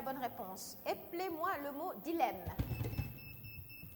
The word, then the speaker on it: dilemme: de Sénégalais qui ont tendance à prononcer Dilem alors qu'on dit un dilemme donc ça s'écrit d